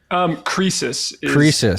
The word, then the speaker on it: Croesus: Jesse Myers, or should I call you Chris Acers? Croesus. Is how, yeah, I know. I didn't know how to pronounce it either, but it turns out that is how you pronounce it.